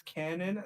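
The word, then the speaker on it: Kwannon: It's canon, not quadrilateral.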